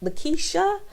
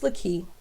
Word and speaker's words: Laki: So he goes, "Is it, how do you say it? Lakeisha? Laquita?" And I'm thinking like, oh boy, here we go. But I said it, I repeated it for him. "It's Laki."